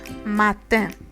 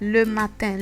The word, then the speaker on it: matin: And this sound, even when it's within a word, we still have it given that sound. So we have matin. Matin. Le matin. Le matin means in the morning. Le matin. And you see that the IN sound is still pronounced in.